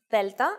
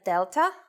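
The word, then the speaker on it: δέλτα: I want to make one more point regarding the pronunciation of delta and gamma. It is very easy to forget the way they are pronounced in Greek and go for their English versions, delta and gamma. Please don't forget that in Greek, the sounds are much softer. Oh, and another thing.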